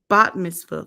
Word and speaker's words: bat mitzvah: Okay, let's bar mitzvah for boys, bat mitzvah for girls.